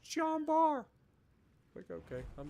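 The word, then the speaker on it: Jean Bart: end of jumbo like stop pronouncing the t it's it's pronounced john barr click okay i'm not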